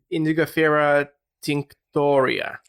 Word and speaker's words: Indigofera tinctoria: How do you pronounce it correctly? Where is my thingy? Where is my thingy? Because mine is handwritten and I'm not sure whether I've written it correctly. Okay. Indigofera tinctoria. Tinctoria, there you go.